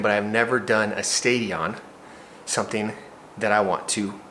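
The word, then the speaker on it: Stadion: I am signed up to do a Spartan Stadium. I think that's how you say it. It's S T A D I O N, not Stadium.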